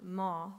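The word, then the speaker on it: ماه: are their king," with the word moon, ma, rhyming with king, shah.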